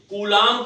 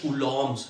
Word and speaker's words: Coulomb: से पहले फिर समझिए कूलाम का नियम। हम बार बार गलती करते हैं, कूलाम बोलते हैं, कूलॉम्स है। ठीक है, बी साइलेंट है, कूलाम्स लॉ।